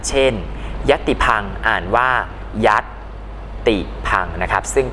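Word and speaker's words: ยัติภังค์: บอก คำ อ่าน เช่น ยติ พัง อ่าน ว่า ยัดติ พัง นะ ครับ ซึ่ง ก็ จะ ใช้ เครื่อง หมาย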